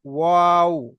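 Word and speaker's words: واو: বা আর বা অওটা যখন বা হবে তখন দুটো ঠোঁটের, দুটো ঠোঁটটাকে কি করতে হবে, গোল করতে হবে, ওয়াও, ওয়াও।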